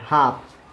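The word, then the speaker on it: half: डी आए तो देखिए एल के बाद क्या आ रहा है, एफ आ रहा है, तो इसको क्या बोलेंगे, हाफ। इस एल का उच्चारण नहीं होता है।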